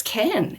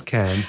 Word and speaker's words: Cannes: look up a YouTube video on how to pronounce KH and it turns out it's can.